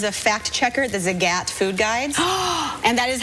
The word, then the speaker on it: Zagat: I first year out of college, I was a fact checker at the Zagat Food Guides, and that is how you pronounce it.